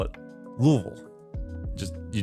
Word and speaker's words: Louisville: fine citizens call it Louisville just you just kind of slam it all together and forget that there's an S or an I in the middle of it and if you do